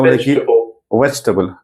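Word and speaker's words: vegetable: का लेफ्ट में स्ट सिंबल है ना उसका वेजटेबल वी सा ं से बोले वेजटेबल टेबल वेजटेबल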